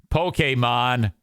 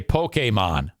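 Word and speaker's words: Pokémon: Mike failure and not knowing how to say Pokemon properly that's so stupid it was a mistake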